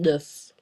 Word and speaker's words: neuf: The final consonants in a word are not pronounced in French unless that consonant is in the word careful. So unless it's C, R, F, or L, don't pronounce it.